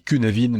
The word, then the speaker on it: Cynefin: Nous sommes en lien avec l'épisode 49 sur le modèle de Cynefin, enfin qui se dit Cynefin, mais qui s'écrit C-Y-N-E-F-I-N.